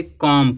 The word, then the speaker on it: comb: हैं, तो यम है, इस यम के बाद क्या आया है, बी आया है, यम के बाद बी आया है तो बी क्या हो जाएगा, साइलेंट रहेगा। इसको हम क्या पढ़ेंगे, कॉम पढ़ेंगे, बी को नहीं पढ़ेंगे, कॉम पढ़ेंगे।